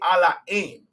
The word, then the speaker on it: Ala'aym: Now, you might hear me say Allah aim. Allah aim is how we pronounce God in our language.